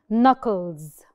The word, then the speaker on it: knuckles: كل دول silent K's. كل دول different vocabulary. لما ال K بتيجي وراها ال N على طول, we do not mention or pronounce the K.